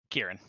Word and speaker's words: Kieran: Is it Siren or Kieran? Kieran. Okay, my bad. Yeah, it's a hard C. Yeah. All right. It's an Irish name.